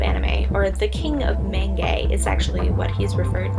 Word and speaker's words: manga: of things so as the aforementioned word Menge I that's how it's pronounced we're thinking about purely